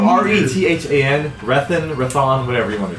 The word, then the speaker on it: Rethan: I don't It's spelled R E T H A N.